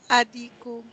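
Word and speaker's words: الديك: Al-diku becomes Adiku.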